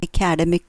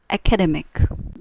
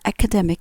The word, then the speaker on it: academic: of this word it's academic the stress is on the middle term this is an academic course so if in